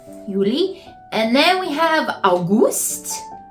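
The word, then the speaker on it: Juli: and to me that just sounds like a germanized version of the Y so we're good there Yuli and then we have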